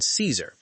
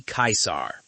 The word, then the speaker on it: Caesar: People within the Legion pronounce it Kaiser, and that could be the original Latin Germanic way of pronouncing it. And now you come before the mighty Kaisar.